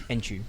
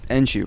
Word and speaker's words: Enciu: how do you say your second name enu enu okay my full name is technically